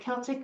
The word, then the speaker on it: Celtic: I said, "So, how do you say it? Is it Celtic or Celtic?" Because I say Celtic because Irish. My husband's Irish. You got to say it Celtic.